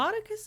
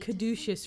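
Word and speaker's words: Caudecus: a lot of people cotus is how you pronounce that call it quit he wants the throne I've been pronouncing it kadous for years kadous yeah he's kind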